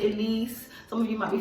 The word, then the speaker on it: Ellesse: at least at least however you people want to pronounce it i call it elise some of you might